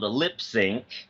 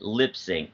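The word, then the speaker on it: Lipps Inc.: by a group called Lip Sync. You know, have you heard of them? It looks like Lips Incorporated, but I think you pronounce it Lip Sync.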